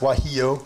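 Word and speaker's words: guajillo: be why he oh yeah it's this that's pronounced why he oh the G isn't surprised you didn't ask me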